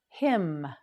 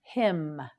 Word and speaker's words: hymn: time hygiene that's right him him him can you tell the N on the end of this word is silent say it with me him again him yes repeat